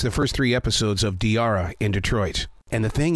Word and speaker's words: Diarra: first three episodes of diara in Detroit and the thing is is that I love Tiara I was saying it right then I yeah you are it's like Tiara but with a d you as a writer